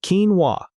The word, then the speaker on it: quinoa: That is a tricky word to pronounce. It sounds like quinoa.